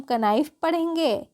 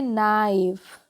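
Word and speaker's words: knife: है उसी तरीके से आगे है के एन आई एफ ई क्या इसको हम कनाइल हो जाएगी हम इसको पढ़ते हैं नाइफ क्या पढ़ते हैं नाइफ के जो होती है वह साइलेंट होती है उसी तरीके से अगला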